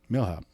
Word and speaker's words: Milhaupt: say your last name mil hop mhop so you don't pronounce the T no okay or the